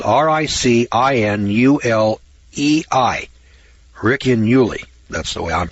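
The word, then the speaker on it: Ricinulei: It's spelled R-I-C-I-N-U-L-E-I. Riccinuli.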